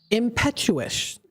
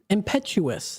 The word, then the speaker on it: impetuous: The word of the day today is impetuous. Impetuous. I'm sorry, I pronounced it slightly wrong.